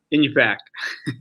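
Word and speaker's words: Iñupiaq: And so you graduated and then you moved to Northern Alaska to work in a remote, can you pronounce it for me? Inupiaq.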